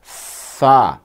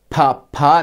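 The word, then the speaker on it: فَ: پھر دیکھو فا، فا زبر فا؛ Pha نہیں، Pha مت کہو۔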